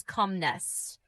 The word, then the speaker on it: calmness: calmness Pronounce it as calmness. The letter L is silent.